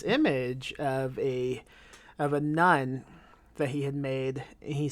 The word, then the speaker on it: None: the flying nun and that's spelled n-o-n-e not n-u-n the flying nun it's